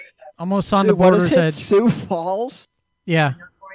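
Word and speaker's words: Sioux Falls: Uh but uh I know Sou Falls does something every year.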